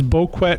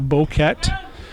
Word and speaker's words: Boquet: A couple polls out there, a Facebook poll and a Twitter poll, and the consensus is Boquet, not Boquet, or Bouquet, or Boquet, but we're going to go with Boquet.